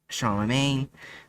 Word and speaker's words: Charlemagne: We're at the Relic House on the corner of Lakeview and Charlemagne.